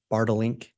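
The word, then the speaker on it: Bartelink: And am I saying that correctly? It's Bartlink? You pronounced it perfectly.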